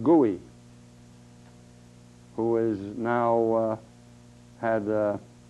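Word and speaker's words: Goei: Now there's another one here, another abortionist from Los Angeles, Gordon, G-O-E-I, pronounced Gooey, who is now had a 3-year probation period for another one.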